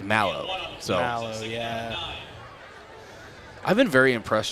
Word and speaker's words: Malo: Did you hear the pronouncer? I think it's Mallow. Mallow, yeah.